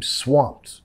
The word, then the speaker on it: swamped: Uf, I'm swamped. Es decir, no, no puedo, tengo mucho ya, ¿ok? Nota acá la ED, vamos a pronunciar como una T.